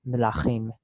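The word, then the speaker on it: מְלָכִים: Now, why do we pronounce melachim as a vocal schwa at the beginning there, even in our modern Israeli pronunciation. And the reason for that is the pronounceability of m and l together, creating a consonant cluster.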